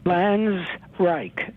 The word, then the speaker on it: Flanzraich: for calling and um am I saying your name correctly flans flans Reich just two syllables you said it's fine okay well thank you